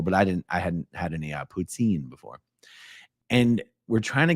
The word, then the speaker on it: poutine: How is the poutine properly pronounced? Poutine.